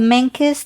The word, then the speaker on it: Menkes: about today yeah so Philip had something called menes disease it's you can spell it m e n k e s mes